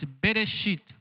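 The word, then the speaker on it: בראשית: do não tem mas o som existe então por exemplo é para que é chama é pronuncia bereshit só que às vezes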